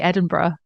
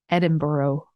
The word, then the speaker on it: Edinburgh: scene like in Edinburgh am I am I pronouncing that correctly close enough Matthew I say I say Edinburgh Edinburgh okay I hear a lot I hear a lot of kind of Americans say Edinburgh Edinburgh um Edinburgh um where that's not wrong